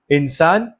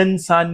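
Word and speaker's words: إنسان: بول رہے ہیں، مکمل۔ انسان، علا انسان، اب میں نے علا انسان نہیں بولا، حمزہ سائلنٹ نہیں ہوا، علا انسان نہیں بلکہ علا انسان۔ اقلام، ہذہ اقلام، اب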